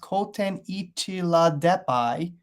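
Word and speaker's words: Kootenichela deppi: really the 505 million year old fossil called koteni chilla deppy pronounced koten ichila depai which is a distant ancestor of lobsters and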